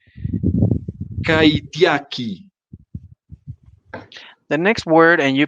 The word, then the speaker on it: kaitiaki: La siguiente palabra es, me corregirás la pronunciación, kaitiaki. The next word, and you please correct our pronunciation, is kaidiaki. Very good, kaitiaki.